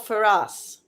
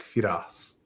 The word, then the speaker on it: Feras: You are called Feras. Yeah. Are you So that's how you say my name in Arabic. Fas in English.